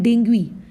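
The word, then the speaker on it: dengue: डेंगू। Hindi भाषा में हम इसको कहते हैं डेंगू, बट अगर तुम साइंटिफिकली इसका करेक्ट प्रोनाउंसिएशन देखोगे तो इसको कहा जाता है डेंगुई, ठीक है।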